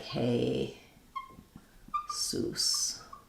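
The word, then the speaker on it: Jesús: Maybe you're asking about the Spanish Jesus. That would be like hey, sus.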